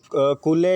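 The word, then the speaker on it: Colley: तो पहला क्वेश्चन मैं पढ़ूंगा, व्हाट डिड चिप्स से द यंग कूले। 3 जो प्रोनाउंसिएशन इसकी कूले या कोली, 2 नाम पढ़ते हैं, तो आप कोई भी पढ़ सकते हैं, जो आपने को सर ने पढ़ाया वो पढ़े।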